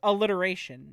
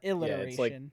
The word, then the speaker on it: alliteration: But I usually go alliteration, not illiteration. It's like alliteration technically. Alliteration and then illiterate. There you you pronounce the beginning. You pronounce the opening vowel.